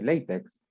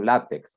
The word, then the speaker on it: LaTeX: a la escritura en lenguaje LaTeX o LaTeX, ¿verdad? Puede pronunciarlo como a usted mejor le parezca.